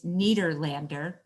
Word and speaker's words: Nederlander: First, I want to mention we're all pronouncing it incorrectly. It's Nederlander. Nederlander.